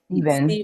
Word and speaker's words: Stephen: Is that how you say his name? Stephen or Stephen? Steven. It's Steven, Steven.